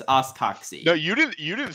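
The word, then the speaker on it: os coxae: It's pronounced oscoxy.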